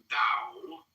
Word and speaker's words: Dao: But in the philosophy of the Dao, one finds a surprising contemporary perspective. The word Dao, properly pronounced Dao, has lent its name